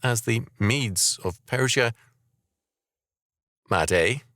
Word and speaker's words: Madai: Madai, pronounced Madai, became absorbed into Persia by Cyrus.